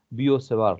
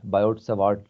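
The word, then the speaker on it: Biot–Savart: यहाँ पे हमारे पास बियोसेवार लॉ है। हम आमतौर पर स्टूडेंट बायोट सेवार्ट लॉ पढ़ते हैं, लेकिन मेरा ख्याल है इसकी जो असल प्रोनाउंसिएशन है वो बियोसेवार लॉ है।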